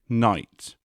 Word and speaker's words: knight: in other languages take knight in older english the k was actually pronounced and the now silent gh was more or less present english essentially co-opted the